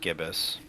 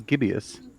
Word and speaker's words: gibbous: you knew the trumpet i looked it up that's why it is just gibbous okay is it i always thought it was gibeous oh let's give it